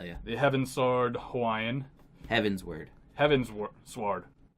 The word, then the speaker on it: Heavensward: mughals meatlovers yeah yeah they haven't sword Hawaiian heavensward heavens work hard it's heavens ward it's it